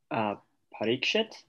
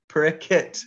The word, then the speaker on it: Parikshit: There's a famous word that a name that you've all heard, and a lot of times devotees sometimes say it the Bengali way because they want to make it more PG. Whose name is that? Parikshit? Parikshit, yes. So they don't want the SHIT part there, so they suddenly turn into Bengalis and they say Parikit because don't want to